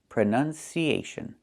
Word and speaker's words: pronunciation: Pron pronunciation not pronunciation. The verb is pronounce. You pronounce the word this way. You pronounce the word that way. But the noun is pronunciation with a short uh sound.